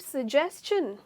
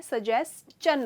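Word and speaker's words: suggestion: That is an excellent सजेशन। अच्छा, एक मैं इसका मतलब समझा उसके पहले इसकी प्रोनाउंसिएशन में कह दूँ, ये सजेशन नहीं होता है, सजेस्चन होता है।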